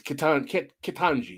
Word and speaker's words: Ketanji: I hope I'm pronouncing her name wrong. It's Ketanji.